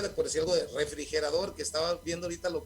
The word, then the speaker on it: refrigerador: Refrigerador es una palabra aguda sin acento porque tiene la mayor intensidad en la última sílaba y termina en una consonante que no es ni N ni S, ¿no?